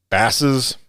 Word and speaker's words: Basse's: So for a while, I wasn't sure how to pronounce it. Is it Basse's, Basses, Basses? And then I called them because I wanted to do an interview with them, but they were too busy. It's Basses. Like Basses.